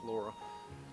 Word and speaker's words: Lara: It's L A R A but it's pronounced Laura.